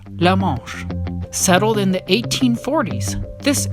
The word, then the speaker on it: La Manche: Due to its French name, it should actually be pronounced La Manche.